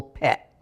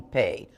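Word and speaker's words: phat: It's not the same, it's not pronounced the same way it is in chud, where you sing a long pay.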